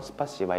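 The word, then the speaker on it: спасибо: 줍니다 스파스 이바 이런식으로 특히 러시아는 강세 라는게 있기 때문에 앞에 스파의 좀더 바람을 세게 누워서 스파 씨바 이렇게 이해하면 될 것 같습니다 유 뜻을 이제 감사합니다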